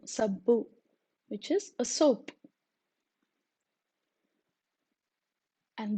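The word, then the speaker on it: సబ్బు: Sir, S-A, sir, sabbu, S-A-B-B-U, sabbu, which is a soap. And this this is pronounced using the tip of the tongue touching your lower teeth.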